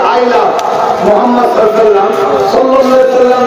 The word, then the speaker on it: মোহাম্মদ: আপনারা সবাই একবার বলুন মোহাম্মদ, আপনারা উচ্চারণ করুন মোহাম্মদ। জ্ঞান করতে কোন নবীর নাম নিলে দুই ঠোঁটে ঠোঁট ঠেকছে, বলুন মোহাম্মদ।